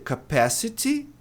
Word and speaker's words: capacity: A sílaba tônica é aqui, PA, ó lá, cap, ó o A pronúncia pode ser capacity, né? Tem americanos que vão pronunciar esse T dessa maneira, mas no geral, né? É comum transformar esse T nisso aqui.